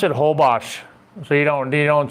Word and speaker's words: Holbox: Yeah, just the X is like shh.